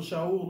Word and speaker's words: Shaul: So we see in Romans 7, Apostle Shaul, or Paul, whose name was Saul, but in Hebrew is pronounced Shaul, he's speaking to Northern